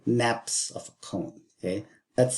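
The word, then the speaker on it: nappe: But really, they're called naps of a cone. Okay. That's spelled N-A-P-P-E.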